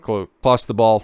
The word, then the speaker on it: Clostebol: All I knew is that it's like Clostebol, and that's the proper pronunciation, is an anabolic steroid.